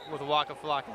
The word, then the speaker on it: Waka Flocka: All right, so you also said there's this big Halloween party with Waka Flocka, is that right?